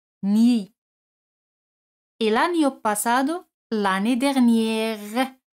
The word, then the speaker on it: dernière: El año pasado, l'année dernière. Aquí la R se pronuncia porque l'année es un sustantivo femenino. L'année dernière.